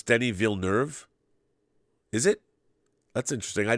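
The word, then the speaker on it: Villeneuve: says let's not butcher Denise name anymore it's pronounced Denny villuve if you're speaking of French it's viluz um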